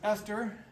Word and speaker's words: ester: on page 714 um this is pronounced Esther it's different than how you would maybe spell somebody's name like Queen Esther in the Bible but it is an Esther and it's also interesting